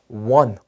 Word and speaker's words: one: 자, 요거는 one, W로 시작을 하게 됩니다.